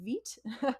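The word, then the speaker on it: Vite: and it is indeed vit I did check like the French word for life I guess yeah no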